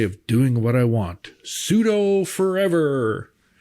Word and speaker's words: sudo: that you wrote on the BSD is absolutely pronounced pseudo then cuz you wrote it cuz I wrote it.